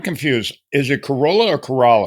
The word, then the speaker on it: Corolla: I I'm completely confused it's it's corala so if someone says Corolla that that you may or may not be corrected okay so I'm if I say Corolla it's shoot me down right away because I'm G to make sure I say corala that's right I always